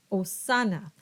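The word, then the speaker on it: hosanna: and man next is the letter H and H is silent so this word is pronounced osana and these words are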